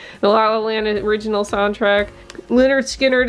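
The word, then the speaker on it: Lynyrd Skynyrd: green day the la la land original soundtrack leonard skynyrd it's pronounced leonard skynyrd miles davis miles davis miles davis miles davis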